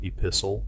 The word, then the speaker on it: epistle: Remember that T is silent in often. Other examples are apostle, epistle, soften, and hasten.